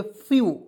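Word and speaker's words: few: ई डब्लू इसे पढ़ फ्यू फ्यू पढ़ेंगे एफ से आधा फ लिखेंगे और अंतिम में ई डब्लू आता है इसका उच्चारण यू के रूप में करते हैं तो फू फ्यू मीस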